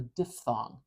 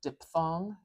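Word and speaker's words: diphthong: n g diff thong you can pronounce it with an F like the F in uh like I don't know phosphorus uh F the sorry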